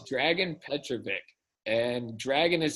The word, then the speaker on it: Dragan: Oh, it's Dragan Petrovic. And Dragan is spelled D-R-A-G-A-N, and he is Serbian.